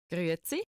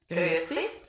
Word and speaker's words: Grüezi: நான் அந்த க்ரூட்ஸை வந்து இது வந்து ஆக்சுவலாக கிரேட்ஸு கரெக்டாக க்ரூட்ஸை கிடையாது. ஏன்னா அது கிரேட்ஸு ஈ வந்து ஏன்னு ப்ரொனவுன்ஸ் பண்ணுவோமா, இது வந்து ஏன்னு சொல்லுவோம். ஸோ இது மட்டும் நான் தப்பாக சொல்லிட்டேன், இன்னொரு தடவை கவனிப்போம்.